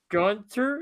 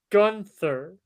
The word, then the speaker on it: Gunther: It's not Gunter, it's Gunther.